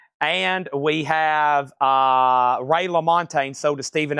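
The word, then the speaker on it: LaMontagne: Y'all don't want to know how I used to say his name. I think I was to say Ray Lamontage. It's Ray Lamontine for $33.99.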